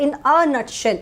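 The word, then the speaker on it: in a nutshell: मगर हम इसका करेक्ट प्रोनाउंसिएशन गाइस होता है इन अ नटशेल, इन अ नटशेल होता है।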